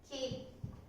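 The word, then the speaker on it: きって: Và cách phát âm là "きって / Kitte." Số lượng âm tiết của chữ "つ" nhỏ là một, do đó "きって" có ba âm tiết.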